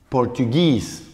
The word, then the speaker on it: Portuguese: Portugal, Portuguese. Portugal, cambia también el acento, Portuguese.